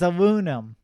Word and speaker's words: aluminum: Yo, bro, you can't even say aluminium. Aluminium. Yeah, exactly. It's aluminum. Very simple.